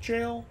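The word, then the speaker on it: gaol: this lord contenders evergold i think it's pronounced jail because they're they're like prisons i could just be oh like like g-o-l is pronounced jail jail yeah like like like if you were trying to spell jail but what you're also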